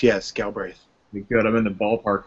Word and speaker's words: Galbraith: Galbraith. Did I pronounce it right, Patrick? That is correct, yes, Galbraith.